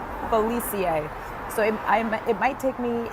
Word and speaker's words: Felice: It's pronounced Zoe, got it, Felicie.